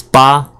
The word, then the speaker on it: 八: pronounced the Asian is ba ba ah ba first tone what does it look